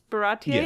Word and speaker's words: Baratie: Is that how you say it? Baratier? Yeah, that's how they say it in the anime and everything.